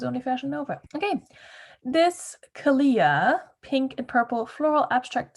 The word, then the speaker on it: Kalia: brand on youtube and carrie underwood herself said kalia so it rhymes with aaliyah so you heard it here first that's how you pronounce this brand i'm not in charge